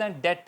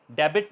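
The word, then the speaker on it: debt: टी इन D world अगर बी 30 से पहले ए जाए वर्ल्ड के और पर तो साइलेंट हो जाता है पर एग्जांपल बी नहीं बोला जा रहा दी ओ यू टी डाउट इस डेट है डेबिट नहीं होगा डेथ डायट बी साइलेंट रहेगा ये एन कॉमर्स वालों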